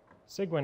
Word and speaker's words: Cygwin: to be using that to program C++ so sigin is spelled c y g e w n Go